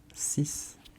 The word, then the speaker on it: six: After that we have sis. Sis sis. Be careful because it's written s x but it's not six, it's sis.